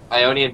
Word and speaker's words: Ionian: Ionian Boots of Lucidity. That's how you pronounce that.